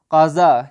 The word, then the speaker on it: غذا: میں کیا پڑھیں گے، غذا، غین زے الف غذا، لیکن فارسی تلفظ کے ساتھ پڑھیں گے غین کو قاف کر کے، قضا، کیا پڑھیں گے، قضا۔